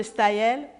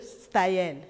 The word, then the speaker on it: Staël: et une deuxième citation je reviens madame de staillet pour ce qui nous écoutent pour les auditeurs Staël s'écrit S t a e tréma je reprends spae tréma l madame de Stayen Germaine de Staël la littérature et l'expression de